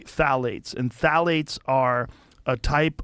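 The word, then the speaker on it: phthalates: the introduction of phalates it starts with a p p t h a l a t s I think it's how you spell it you say phalates and phalates are a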